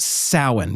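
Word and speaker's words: Samhain: s a m h a i n s a m h a i n but it is pronounced sin because celtic language stuff is very strange.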